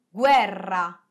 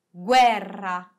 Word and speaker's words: guerra: posso pronunciare la jeep e in italiano si pronuncia così 22 ad esempio due di guerra guerra sangue sangue lingue lingue e ora tocca a